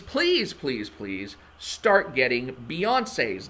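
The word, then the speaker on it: Beyoncé: knowles carter yes beyonce she's got that accent on the end of her name for a reason so please use it it's beyonce it's not beyonce that i swear there's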